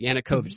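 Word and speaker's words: Yanukovych: how do you say his name Yan yanovich yanukovich yanukovich thank you the work on my Annunciation there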